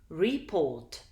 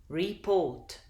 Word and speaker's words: report: Report. Report. Can you hear that the second syllable is more prominent than the first? This means that the stress is on the second syllable and you hear it more clearly than the first syllable.